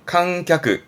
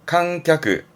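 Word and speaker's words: 観客: 칸갸크, 칸갸크. 뒷글자는 찰자입니다. 그래서 관찰하다.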